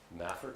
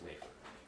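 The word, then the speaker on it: Mafer: They also, in the East, we generally call it a Maffer clamp, and out West they call it a Mayfer clamp. The correct pronunciation is Mayfer, right?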